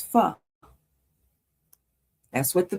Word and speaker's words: pho: Yeah, it's pho. That's what the pronunciation said, which is, there are 2 main